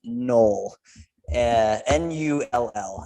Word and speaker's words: NULL: But we are sitting down today with the guys from the band NULL. NULL is how you spell the name. Not like my last name, NOELL. It's pronounced the same.